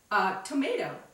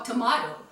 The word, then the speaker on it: tomato: Ingredient number 3 is tomato or tomato, however you want to pronounce it.